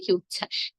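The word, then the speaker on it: উচ্ছ্বাস: তাই না শান্ত তেমনি উচ্ছাস উচ্চাস শব্দটিতে দেখুন চ ছ সংযুক্ত আছে তার সঙ্গে আবার ব এসে যুক্ত হচ্ছে আমরা কিন্তু সেই ব এর উচ্চারণটি করছি না উচ্চারণ করছি উচ্ছাস তাই যুক্ত ব্যঞ্জন বর্ণের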